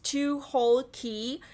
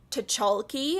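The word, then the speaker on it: Tucholke: So it is pronounced as Tucholsky, not Tucholsky, how most of the people would read it, and I was reading it like that myself when I was reviewing Winged Poppy Midnight.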